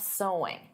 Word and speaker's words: sewing: Because of course the pronunciation is the same as so. There's no sewing though adding an ing. So sewing is the activity but the pronunciation is the same as the word so.